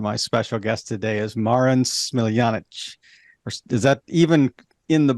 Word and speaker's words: Marin Smiljanic: Okay, you get one shot at this, so please tell us the real pronunciation. It's Marin Smiljanic.